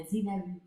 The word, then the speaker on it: Xylaroo: To be honest, I wanted to change the pronunciation to Xylaroo. Yeah, Xylaroo.